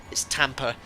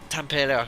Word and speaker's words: Tampere: It's Tampa. So, Tampere, how it's pronounced.